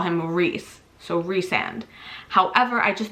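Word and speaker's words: Rhys: is how my brain works rand's name it's pronounced reand I understand because we call him Rees so reand however I just think rice sand sounds better and for a couple of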